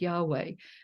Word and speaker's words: Yahweh: gender is the tetragrammaton which is y v pronounced Yahweh that's usually T talked of as being masculine